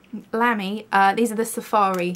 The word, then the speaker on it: Lamy: two of the uh i think it's pronounced lamy which just makes me hear like a little lamb bleating lamy uh these are the